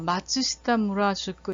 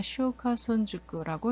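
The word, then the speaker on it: 松下村塾: 그래서 저는 이거를 맨 처음에 가서 읽을 때 마츠시타 무라주쿠 이렇게 읽었는데, 마츠시타 무라주쿠가 아니라 시오카손주쿠라고 읽는다고 해요.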